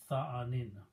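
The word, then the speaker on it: ثانٍ: The last ya is not written and pronounced. So this is like fa'ilun, but the ya drops out, so tha'anin.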